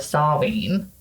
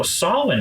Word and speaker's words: Samhain: So Samhain is not much different for our listeners. It's spelled, if you ever want to Google it, Samhain, Samhain.